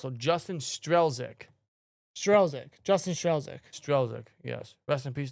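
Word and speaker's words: Strzelczyk: Strelzik is how it's pronounced. So, Justin Strelzik. Justin Strelzik.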